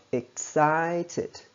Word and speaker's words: excited: Trọng âm rơi vào âm tiết số 2 này, sau dấu nháy đơn đây. Excited. Excited. Ok.